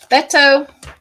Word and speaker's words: Beto: look at look at bento again beto people keep on telling me i'm saying it wrong it's b-e-t-o beto meto yeah i think